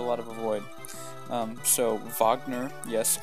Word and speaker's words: Wagner: of avoid um so Wagner yes I do pronounce it the the way that the composer pronounces it it's not a Wagner Americans is taking a